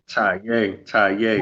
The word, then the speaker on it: Taye: And again, this young man is Taye. Am I pronouncing that right? Taye Huru? Taye.